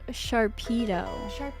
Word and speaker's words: Sharpedo: so all right so he is called Sharpedo Like a Torpedo a shark torpedo yeah